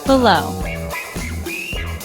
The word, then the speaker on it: below: Below two syllables stressed syllable is second.